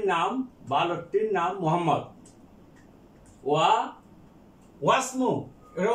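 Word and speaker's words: وَاسْمُ: বালকটির নাম মোহাম্মদ, ওয়া ওয়াসমু এর উচ্চারণ এই হামজাতুল আসল, হামজাতুল আসল আগের ওয়ার্ডের সাথে মিলে পড়ার সময় হামজাতুল আসল লেখার সময় এটা লিখতে হবে, কিন্তু উচ্চারণের সময় উচ্চারণ করা যাবে না।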